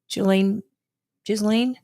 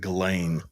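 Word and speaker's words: Ghislaine: it'll be best if Julisane well I think you're supposed to pronounce it Galain Galain Maxwell he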